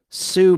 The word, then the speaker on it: Sioux: She was in the movie The Great Sioux Massacre. That's spelled Sioux, like Sioux City.